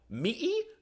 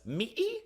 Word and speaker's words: Mỹ: It's pronounced like ma. And the best part is that the word for America in Vietnamese uses this tone. Mỹ, God bless Mỹ.